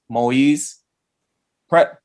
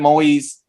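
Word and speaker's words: Moïse: last name right because i heard it pronounced maui's pret i'm gonna say president moise i saw a clip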